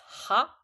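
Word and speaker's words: は: This hiragana itself is read as ha, although when you use it as a particle, we use wa. I mean, we pronounce it as wa.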